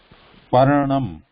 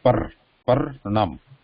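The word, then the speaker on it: पर्णम्: Paranam. Paranam. So stop here, like so here when you are saying that when there's a consonant, sudden stop there, like when saying that, pronouncing like parnam.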